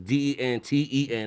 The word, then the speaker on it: Denton: So it's Denten, not a ton. Denton.